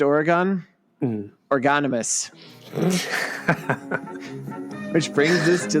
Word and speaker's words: Oregon: ways to pronounce including the first I'm going to say which is what the fun quirky facts of Oregon site says is to pronounce the correct way Oregon number two or Egon apparently that's not the way to do it nope but who knows number